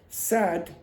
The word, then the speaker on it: sad: When this syllable has a voiced consonant at the end, then this vowel will be expanded. So you will say sad.